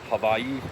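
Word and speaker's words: Hawaiʻi: And havi with a V pronunciation is also the correct native pronunciation for these islands.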